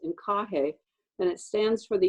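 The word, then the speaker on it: INQAAHE: And there's an international organization, the acronym is pronounced INCAHE, and it stands for the International Network of Quality Assurance Agencies in Higher Education.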